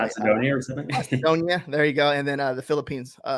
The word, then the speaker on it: Macedonia: overseas, or One's in Macedon. I think it's Macedon. I don't even know if I'm saying it right. Macedonia or something? Macedonia.